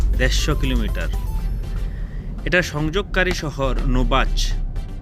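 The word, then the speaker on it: Novaci: এটার সংযোগকারী শহর নোবাচ। মানে ইংলিশে যদি বানান করে বলি এন ওভি এ সি I Romanian ভাষায় নোবাচ বলা হয় এটি আলবা কান্ট্রিতে অবস্থিত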